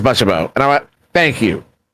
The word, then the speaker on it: Butchabo: And I was like, how is it pronounced? And he says Butchabo.